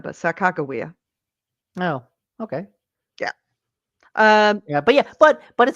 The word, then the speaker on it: Sacagawea: By the way, that's Except the correct pronunciation of her name, not Sacagawea, but Sacagawea.